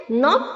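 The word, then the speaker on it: knob: knife का के silent है निट का के साइलेंट है नॉप का के साइलेंट है नॉट का के साइलेंट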